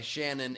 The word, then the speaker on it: Sionain: And we are joined by Shannon in Gaelic. It's Sionain, pronounced same. Her. It's Shannon. It's just spelled weird.